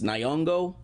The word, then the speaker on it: Nyong'o: to say her last name I think it's Nyong'o who played Nakia in Black Panther refused to